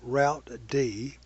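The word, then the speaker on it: routed: workstation serving as a router a process called route D although that spelled ro ute D is pronounced router D execute our IP that is it maintains routing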